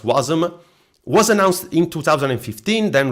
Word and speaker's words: Wasm: web assembly you can also say it wasm pronounced wasm was announced in 2015 then released in 2017